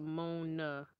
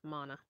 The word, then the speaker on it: Mona: wasn't pronounced right so is it my na or is it Mona I thought it was Mona but I guess I messed it up type it out phonetically and I'll try my best um anyway this book was interesting it was episode number 5 in the odana ok mana okay didn't know that there you go mana like Donna got it um so sorry